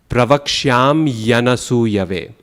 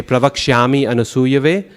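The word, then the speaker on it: pravakṣyāmy anasūyave: That's crucial because if we add an E instead of the Y, we say pravakshami anasuyave, we have added a full syllable to the phrase, right? Count. Pravaksham yanasuyave. It's 8 syllables.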